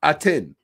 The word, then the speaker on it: Aten: what they didn't do he's an expert can't pronounce the deity's name it's aten aten okay he said some i can't i